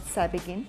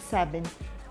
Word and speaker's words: Sabegn: been pronouncing the name wrong i have been pronouncing it as savaging but it's seven seven is attractive in amharic and so are